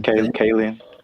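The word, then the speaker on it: Kaling: Kayen.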